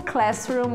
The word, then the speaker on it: classroom: Google Classroom está aí. Então, atente-se para pronunciar corretamente. O S, nesse caso, é som de S mesmo. Classroom.